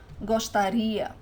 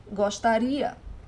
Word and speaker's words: gostaria: Now, for the conditional pronunciation, the stressed syllable is always the last one. So the stress of the word is always in this final i that you're adding there.